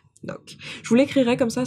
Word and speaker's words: Ngoc: Mais non, c'est Noc. Noc.